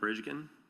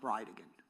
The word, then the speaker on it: Bridegan: It's Jared Gallen Bridgen. And I'll represent to you that it's pronounced bride again.